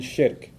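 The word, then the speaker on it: shirk: Muslim from his faith perspective nothing worse than shik s h i r k sounds like Shrek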